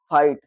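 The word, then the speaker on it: fight: देखो इसमें आई के बाद जीएसटी आ रहा है, तो इसको क्या पढ़ेंगे, फाइट, क्योंकि जीएच जो होता है, जो जीएच होता है वो हमेशा क्या होता है, साइलेंट हो जाता है।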